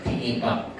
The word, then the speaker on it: Tinipak: For those that haven't been to Tinipak River yet, Tinipak is, I've been told this is the proper pronunciation there. Yeah, Tinipak.